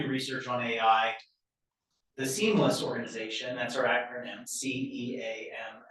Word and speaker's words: CEAMLS: So if you do research on AI or want to do research on AI, the Seamless organization, that's our acronym, Cam LS, pronounce it seamless, um is a great thing to get involved with.